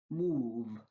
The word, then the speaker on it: move: Instead, O is pronounced as oo. Move, prove.